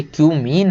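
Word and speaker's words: cumene: केवल कि क्यूमीन से, इसको कुछ और मत पढ़ लेना भाई, ये क्यूमीन है। बहुत सारे लोग समझ रहे हैं क्या क्या पढ़ लेते हैं, है ना, तो इसको वही पढ़ें जो इसका प्रोनाउंसिएशन है। Give the equations of reactions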